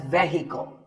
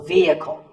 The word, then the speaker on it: vehicle: It's often pronounced wrongly as vehicle, but the E is a long vowel and the H is silent, so vehicle.